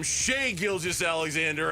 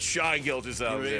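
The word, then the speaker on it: Shai Gilgeous-Alexander: Going to call him Sheay Gilgis Alexander and not Shy Gilg.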